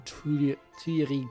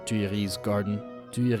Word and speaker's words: Tuileries: The defendant was present in Tuileries Gardens prior to entering the Louvre. Stop pronouncing the S on Tuileries, please.